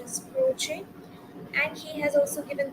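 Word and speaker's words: Croce: uh there was one critic called croch the pronunciation is croch and he has also given theories of expressionism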